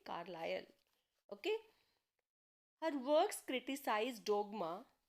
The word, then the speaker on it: Carlisle: इसको प्रोनाउंस कैसे करते हैं? ISLE, इसको प्रोनाउंस करते हैं आयल, तो कार्लायल, तो दिस विल बी कार्लायल।